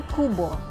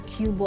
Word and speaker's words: QBO: let's come on in welcome to Kupa i mispronounced it as cuba a while ago but it's really cool